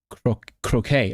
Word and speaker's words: croquet: My friend lives in Wimbledon, which takes place each year at the All England Lawn Tennis and how do you pronounce this? Croquet? Croquet.